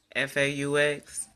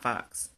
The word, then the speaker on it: faux: FAUX is pronounced faux, not fox.